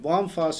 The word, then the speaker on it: Vom Fass: distributor to us so vom fass litsa first before we get into that bomb fuss in german it's a german franchise